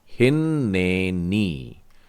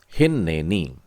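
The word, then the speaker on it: הנני: तो हे में छोटी ई की मात्रा, लेकिन आखिरी वाले न में बड़ी ई की मात्रा लगेगी, ये हो जाएगा हिन्नेनी। ऐसा ही बोला है आपने भी, हिन्नेनी।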